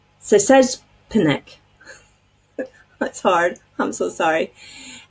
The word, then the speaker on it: Szczepanik: I listened to a video to make sure I can pronounce her name. Szczepanik.